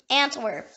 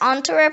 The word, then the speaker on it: Antwerp: The next word is Antwerp. It can also be pronounced Antwerp or in French Anvers, or in Flemish Antwerpen.